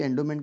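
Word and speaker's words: endowment: एंडोमेंट में ए आएगा, क्योंकि एंडोमेंट की स्पेलिंग भले ई से चालू हो रही है बट प्रोनाउंसिएशन कहते हैं, तो एंडोमेंट में ए लगता है वो।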